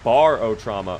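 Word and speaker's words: Barotrauma: It's pronounced barot trauma.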